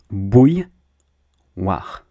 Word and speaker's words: bouilloire: Bouilloire. So you start by saying bou, and then you add a y.